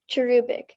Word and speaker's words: cherubic: perfectly captured celia's cherubic smile cherubic thank you cherubik am i pronouncing it correctly yes cherubic c h e